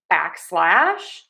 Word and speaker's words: backslash: Next, we have a backslash, and the backslash is used often in code. So stress syllable number one, back, unstress, slash. Backslash, backslash, backslash, backslash, backslash, backslash, backslash.